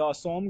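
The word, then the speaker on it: Assam: पहला क्या है द असोम गणा परिषर देखो असम को असाम कहा जाता है बट इसकी स्पेलिंग यही है अब दूसरा क्या है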